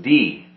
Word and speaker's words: Dee: the name I own D was kind of interesting because I thought it's kind of strange to have a surname it's just D just a letter my first thought was